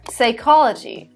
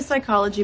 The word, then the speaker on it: psychology: that is my pseudonym p is also not pronounced when it comes as a first letter in words followed by consonant like psycho or psychology or pneumonia there was never any